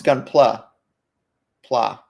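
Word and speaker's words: Gunpla: gumpla um is it called isn't it called gumpla it's what the word looks like how it's pronounced as if I would know gun oh it's gun PL pla PL okay whatever that's where Reddit says that's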